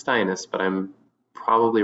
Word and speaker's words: Steines: I say it it's steinis but I'm probably wrong the only person who said it right without correction so Rhymes withus okay stinus rhymes with highness so hi um